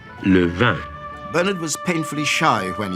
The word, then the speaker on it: Levin: I am very pleased that in France my name is pronounced not Levin, but Levin.